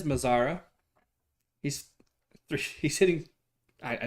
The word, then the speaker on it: Mazara: pitch kelly nice pitch brings up mizara it's probably mazera i'm pronouncing it wrong fastball had some good movement on it not a ton but had good movement it is mazara he's three he's hitting